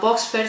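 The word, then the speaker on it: Buxfer: Recomiendo, hay una muy buena que se llama Voxfer, se escribe B larga UXFER.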